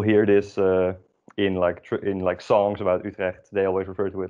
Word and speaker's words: Utrecht: Utrecht. Wow, great job. So emphasis on the U. U, like an E with your lips around it.